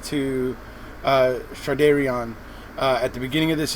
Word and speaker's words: Shardayreon: It's pronounced Shardayreon though.